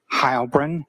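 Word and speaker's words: Heilbrun: My name is Hybrin. That's spelled.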